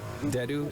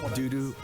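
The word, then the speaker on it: Dedue: Dimitri, Dedu, and Ingrid. Not Dimitri, Dudu, or Ingrid.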